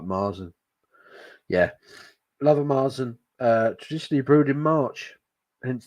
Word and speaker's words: Märzen: Apparently it is pronounced Märzen. I don't like saying the word Märzen. Just like Marzen. Yeah. Love a Marzen.